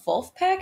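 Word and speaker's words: Vulfpeck: funk musician um so there's a band called wolf pack have you heard of wolfpack they are the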